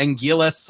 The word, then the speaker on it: Anguirus: again commentary, you know, he would switcha occasionally to different pronunciations, but yeah, Angillis, I've always stuck with the L, but I'm also old school with that because that Gan.